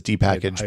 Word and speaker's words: dpkg: calls it dpkg I call it I've always pronounced as D package but whatever yes I always say it in